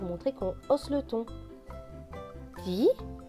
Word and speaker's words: dit: Dit, le T à la fin est écrit en gris, donc il ne se prononce pas.